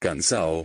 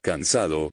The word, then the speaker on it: cansado: In Spanish from Cuba, like that of Andalusia, you omit consonants. Cansao, cansado, caminao, caminado, profesora, profesora.